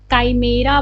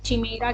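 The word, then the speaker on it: chimera: काइमेरा क्या है, इसे काइमेरा को अच्छा तुम एक चीज़ जानते होगे, इसकी स्पेलिंग ऐसे काइमेरा या फिर काइमेरिया, कितने लोग चिमेरा कहते हैं, काइमेरा, ठीक है।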